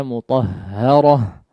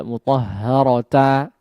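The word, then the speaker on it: مطهرة: Suhufam yatlu suhufam mutahharah, ya, dibaca mutahharah, ya, tidak mutahharata, ya, tidak seperti itu.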